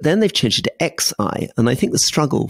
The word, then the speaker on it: Xi: say Xi Jinping, but I shouldn't say Xi. I should say Xi. François Hollande told me that. He told me I mispronounced it. He said it's Xi. He's Xi. Xi Jinping. Xi Jinping. Yep. So it goes up, down, up.